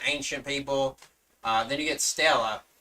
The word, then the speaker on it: Stella: Then you get Stella. This is written as a main true body, but pronounced as Stella, which means celestial star in Latin.